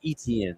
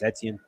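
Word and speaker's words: Etienne: Well, now you're without your bellcow running back and uh Travis Etien and ETN, excuse me. I keep keep mispronouncing.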